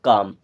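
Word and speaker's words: calm: होता है होना एंड काम काम का मतलब होता है शांत देखिए यहां पे एल साइलेंट है एम के पहले जब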